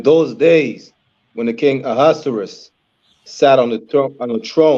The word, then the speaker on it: Ahasuerus: Let me pronounce his name. Ahasuerus.